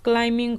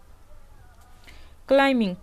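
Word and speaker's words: climbing: Hard work is like क्लाइंबिंग a heal. यहां पर देखिए बी साइलेंट। ठीक है? कड़ी मेहनत इज है लाइक मींस की तरह। क्लाइंबिंग चढ़ने अ एक हिल पहाड़ियां।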